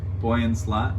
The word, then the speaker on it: Boyan Slat: it's no no help Boyan buoyant mmm okay Boyan slat bullet boy in slot with one a and